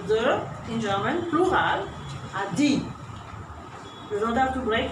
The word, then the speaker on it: die: Be careful also when you write the article die, don't say die. It has nothing to do with English. This is what we have seen is a E long.